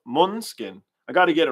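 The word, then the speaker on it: Måneskin: We got a Monoskin fan. No, I said it wrong, huh? Monskin.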